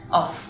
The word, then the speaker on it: of: Que es la preposición of. Se pronuncia como una V corta, of.